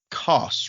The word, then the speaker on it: Koss: Address me as Koss, rhymes with cross.